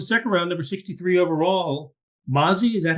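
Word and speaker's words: Mazi: Um all right, so in the second round, number 63 overall, Mazy, is that how he pronounces it?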